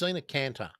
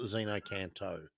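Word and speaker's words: xeno-canto: No, it's Xenocanter, not Xenocanto. Xenocanter.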